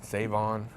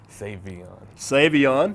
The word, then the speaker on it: Sa'Veion: Avion lots of people say save me and save on Savion Savion yes I don't have a big huge ego